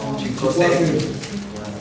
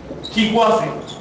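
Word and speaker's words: chicuace: Hay varias pronunciaciones para el 6. En agua clásico, bueno, la que escribieron los Pilchochi, Tesosomo, etc. Chicuase. Chicuase. El O de Chicosé se dobla en diptongo.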